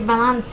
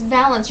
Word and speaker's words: valence: you serious i'm like it's ionic or valance she was like vance and i'm like it's valence you're not talking in